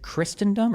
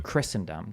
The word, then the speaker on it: Christendom: Christristendom as a concept is it Christristendom or Christrysendom? I don't think you pronounce a T right.